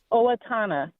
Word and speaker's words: Owatonna: How do you pronounce it? Yes, Owatonna.